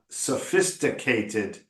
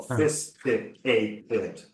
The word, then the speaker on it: sophisticated: syllable word okay uh sophisticated is another five syllable word so fisticated fated better again sophisticated again sophisticated sophisticated sophisticated again sophisticated better sophisticated no that's it okay so again five syllable words we don't put syllables there to not be said okay so you got to say that if there's five you got to say all five okay but yeah very